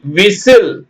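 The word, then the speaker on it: whistle: Christmas w h ஐ எஸ் டி எல் இ விசில் ஓகேங்களா விசில் அடுத்து பாருங்க டிக்கு சத்தம் இல்லை ஓ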